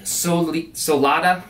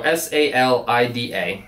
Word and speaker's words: Salida: So this is the Kelty Solida, sorry, can't pronounce it, Solida, my bad. So S-A-L-I-D-A, the Kelty Salida.